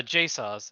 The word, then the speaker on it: Jasozz: how that's pronounced uh jason's it's like my name but then at the end ah there we go